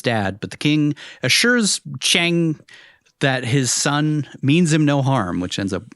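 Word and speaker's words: Qiang: The servant we saw earlier, or guard, uh, Chang, I think is how you say it. Q I A N G. King, I think it's I think it's like Chang.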